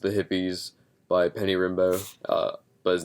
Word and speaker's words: Rimbaud: um the last of the hippies by penny rimbo uh but his name is spelled like rimba hard r-i-m-b-a-u-d penny rimbaud but